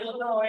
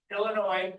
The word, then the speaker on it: Illinois: Not Illinois, it's Illinois. Yes, is silent.